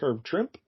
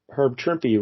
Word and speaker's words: Herb Trimpe: thought his name was herb trimp but then uh Michael told me no no no it's a herb shrimpy rhymes with shrimpy Y I always say